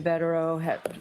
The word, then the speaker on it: Bederow: Alessi joined us, you have a rather vague, good cause exists to grant this motion because Mr. Bederow, is that how you pronounce his name? Yes.